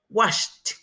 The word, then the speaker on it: washed: Agregamos ed y pronunciamos washed. Washed.